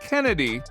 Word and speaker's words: Chennedy: And by the way, her name is pronounced Kennedy, in case anyone was confused.